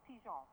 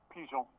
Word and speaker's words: Pigeon: Steve, before we start, can you just confirm how I pronounce last name, please? It is Pigeon, yes. Pigeon.